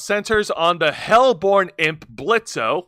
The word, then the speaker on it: Blitzo: According to the article, Hell of a Boss centers on the hellborn imp Blitzo with with a silent Blitz with a silent Oil who runs a small chaotic assassination business.